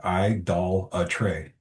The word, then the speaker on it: idolatry: still not sure how to say idolatry. I ended up playing it on the phone because it didn't have it broke down with the syllables. But yeah, I doll a tray. So Yeah, y'all were saying it right. I was way over there with it. it looks like it should read adultery, like with an Right?